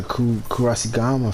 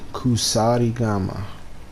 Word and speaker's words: kusarigama: please do some medicine okay I got the Cucaracha Gama finally let me make sure I'm pronouncing that correctly kusari kusarigama sorry gamma lightning damage y'all gotta meet with